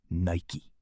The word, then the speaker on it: Nike: Then someone suggested Nike, Greek goddess of victory, pronounced Nike.